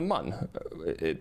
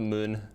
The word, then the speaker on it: Mun: Uh Yeah, it's it's the Mun, not the Moon. I mean, I guess it's technically pronounced the Moon, but um So, you know,